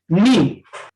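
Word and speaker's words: knee: इसमें देखो के के बाद एन आया है या एन से पहले के आया है, तो इसमें के को साइलेंट कर लिया जाता है, नी।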